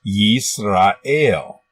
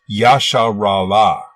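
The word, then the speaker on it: ישראל: 1 000 a d the first letter is a yod with a y sound this is the vowel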